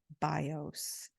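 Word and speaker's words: βιός: is associated with life bios with a different accent on the vowels so it's BIOS with the accent on the o and bios Accent on the eye and said the bow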